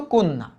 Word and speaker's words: কন্যা: দেখো তো কন্যা, কন্যা, কেন কন্যা হলো না? কন্যা কেন হলো বলো তো? কারণ এই যে জফলার আগে যদি একটা অধ্বনি থাকে, ওই অধ্বনির উচ্চারণ ও এর মতো হয়।